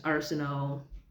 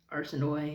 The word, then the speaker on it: Arsinoe: Then there's Arsino, or I think Arsinoe is how they were pronounced in the audiobook.